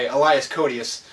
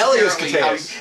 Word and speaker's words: Elias Koteas: the guy at the beginning of the movie who is going to the death chair is played by Elias Koteas, or however you say the gentleman's name.